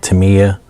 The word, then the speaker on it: Tamiya: If you don't feel comfortable with freehanding it, I recommend Tamiya tape, or Tamiya, I guess some people pronounce it Tamiya.